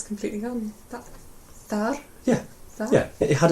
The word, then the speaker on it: þar: And the word for there is thar. Thar. Yeah? So do you want to say I am there? Ég þar. Beautifully pronounced as well.